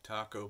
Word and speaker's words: Taco: So these zone valves made by Taco, spelled like taco, but apparently it's pronounced Taco.